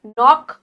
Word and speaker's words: knock: Knock, यहाँ पे case silent है इसलिए knock बोला जा रहा है।